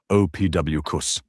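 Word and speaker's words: Ophiuchus: Ofucus, pronounced OPWCUS, isn't some modern internet hoax.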